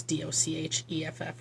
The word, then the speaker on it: Docheff: A local resident named Cody Docheff, I think it's pronounced Docheff, it's Docheff, was at the auction.